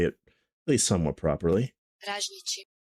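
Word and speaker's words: ražnjići: Raznici. Raznici. So Raznici is a traditional Balkan dish consisting of skewered and grilled pieces of meat. The name Raznici is derived from razanj, Serbo-Croatian word for skewer.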